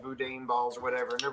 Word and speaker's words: boudin: Boudin pronounced Boudin.